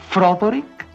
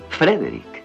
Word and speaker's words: Frederick: No, se pronuncia Frankenstein. ¿Dice usted también Froderick? No, Frederick.